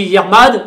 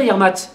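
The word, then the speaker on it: Yec'hed mat: Alors on dit Yermad, Yermat, parce qu'en fait ça s'écrit M-A-T. Donc on peut dire Yermat.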